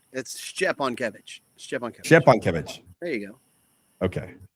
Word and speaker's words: Szczepankiewicz: How do you pronounce your last name? You're like right there. It's Szczepankiewicz.